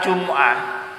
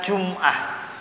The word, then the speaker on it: Jumu'ah: yang perlu diperhatikan kata Jumuah kata Jumat Hai kalau kita lihat di dalam Alquran itu bacanya bukan Jumat bukan dimatikan minimnya tapi Jumuah dibaca bomnya jumlah Jun muah